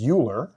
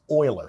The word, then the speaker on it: Euler: last name is uh it looks like the last name is uler but actually it's pronounced Oiler so his name is oil this is Oiler number okay um it's